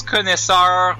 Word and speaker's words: connoisseur: Mais ouais, ça se prononce connaisseur. Mais ça s'écrit connoisseur.